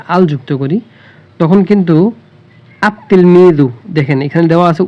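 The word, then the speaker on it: التلميذ: তাহলে আমরা আলিফ এই আল যুক্ত শব্দের লামটি উচ্চারণ হবে না দেখুন তিফলুন এখানে যদি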